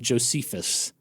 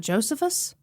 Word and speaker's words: Josephus: with a u on the end apparently it's pronounced Josephus not Josephus I heard Josephus okay okay but you know